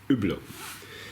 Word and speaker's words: Hublot: This is the correct version, how you pronounce Hublot.